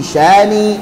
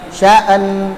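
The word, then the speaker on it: شأن: Baik, bukan sya'an, beda ya, sya'an dengan beda dengan sya'an. Dengan, jadi jangan diucapkan tapi apa? Kulla yawmin huwa fi sya'n. Jadi karena apa? Langsung ke huruf nun, bukan sya'an gitu ya.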